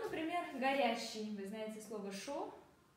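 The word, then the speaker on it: chaud: Вы знаете слово «шо», а горячая в женском роде «шод».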